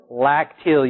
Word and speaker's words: lacteal: got a special name lacteal you gotta own that lac teal you know why because